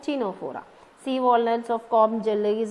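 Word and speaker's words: Ctenophora: C is silent, Tenofora.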